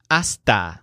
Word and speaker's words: hasta: to say until success Jill says asta success the word asta roughly means until and the stressed syllable sounds kind of like the word asked so ask the success